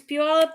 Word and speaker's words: Puyallup: It is Puyallup, Washington. Red. Show Cassie, Weird Al, Lisa, learn Puyallup, Washington by Thursday. Learn to pronounce Puyallup, Washington, and we will test Thank Wanda.